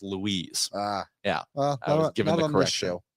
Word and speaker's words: Lois: were like whoa that lady's name is Lois Lane it's pronounced Louise ah yeah given the